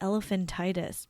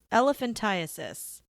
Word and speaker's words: elephantiasis: But like some of them, like, I mean, that's how people get, I always called it elephantitis, but I don't think that's how you say it. It's elephantiasis, but like it's through a parasitic worm that goes into your lymph nodes.